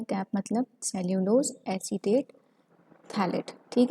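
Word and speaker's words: phthalate: कैप मतलब cellulose acetate थैलेट। ठीक है, पीएच जो है इसमें साइलेंट होता है, इसको थैलेट पढ़ा जाता है।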